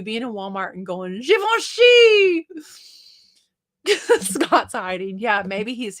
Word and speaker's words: Givenchy: wow you guys Mary knew that too jevince Givenchy because it's Southern I'm glad it's pronounced the way you say it it sounds